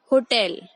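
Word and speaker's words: hotel: We will stress on टेल। होटल।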